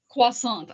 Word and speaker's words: croissant: So see you love it so much you pronounce it correctly. The rest of us just say croissant. So, say it again. Say it again. Quasant. I say so.